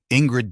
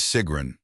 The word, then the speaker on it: Sigrin: Ingred, dear, what in heaven's name? Seagrin corrected the pronunciation this time. Gentle Seagrin, Mrs. Thorncastle, the name is Sigrin. It is a different vowel at the start.